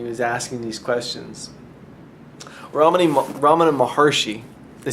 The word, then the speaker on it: Maharshi: Ramana Maharshi, they say Maharshi, but like if you looked at it, it's Maharishi. But if you say Maharishi, everybody will think you're talking about the fellow from Transcendental Meditation.